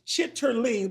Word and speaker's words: chitterling: it but they it it rhymes with Chit but it it's chitterling but they say you